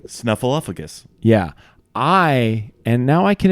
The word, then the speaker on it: Snuffleupagus: was over the pronunciation of Big Bird's friend's name. Snuffleupagus.